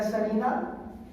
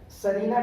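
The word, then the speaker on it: Tsarina: और राजा की जो पत्नी थी ना, उनका नाम था जरीना या सरीना अलेक्जेंड्रा। क्या नाम था? सरीना, टी को साइलेंट करके सरीना अलेक्जेंड्रा।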